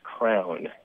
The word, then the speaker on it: crayon: It's a word that I would pronounce crayon. Mm-hmm. And as a kid, I pronounced crayon as if it was spelled C-R-A-N.